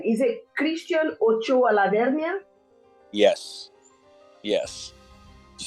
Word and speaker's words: Christian Ochoa Lavernia: Is it Christian Ochoa Lavernia?